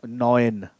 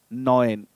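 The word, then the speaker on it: neun: um as in busha is going to be pronounced as oy as in boy or toy okay so i like we have our number nine noin noin we talk about ch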